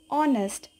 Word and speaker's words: honest: take the second example honest it begins with a vowel sound oh and we say an honest man clear now let's move